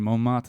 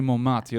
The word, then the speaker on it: Montmartre: you got an audio tour through Montmartre and the Yes.